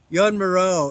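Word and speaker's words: Joan Miró: Jan Moreau is another guy who's really good to look at. His name is spelled Joan, and his last name is Miro.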